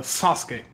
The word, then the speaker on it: Sasuke: and because for example if you read the name uh Sasuke there is a u at the end but the Kani how it is written does not speak the U in that